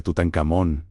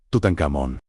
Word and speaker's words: Tutankamón: Egipto Tebas, actual Laxe, la pronunciación más común del nombre de este faraón, Tutankamón. Es una convencionalidad artificial conocida como pronunciación egiptológica, que no debe ser confundida con como la lengua egipcia era pronunciada realmente en su época.